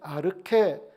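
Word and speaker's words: ἀρχή: 가지고 있구요 요한복음 1장 1절에 태초 는 n 아르케 라고 얘기하는데 이건 시간과 공간을 얘기를 해요 자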